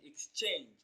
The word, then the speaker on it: exchange: The stress falls on the second syllable, change, exchange.